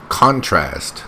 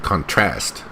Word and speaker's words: contrast: It's contrast, not contrast. So she put the stress here on the wrong syllable.